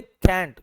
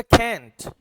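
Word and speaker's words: can't: कर बताता हूं कि अमेरिकन जब भी इसको पढ़ेगा ना वो पढ़ेगा कैंट इसको अमेरिकन कैंट पढ़ेगा जबकि ब्रिटिश इसी वर्ड को पढ़ेगा कांट दोनों में बस इतना सा फर्क है ये कैंट है और यह कांट है ठीक है लॉन्ग वोवेल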